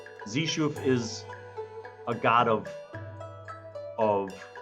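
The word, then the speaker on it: Xeshu: is a male God known as zishu which is spelled x e s h UF zishu is a god of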